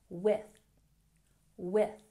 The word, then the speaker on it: with: We have the TH sound in with, so make sure you're putting your tongue between your teeth. With, with.